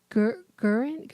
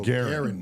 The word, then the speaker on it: Garen: And was it Gurin? What was his name again? It was Hard G. Yeah, so Garen. Garen from Moria.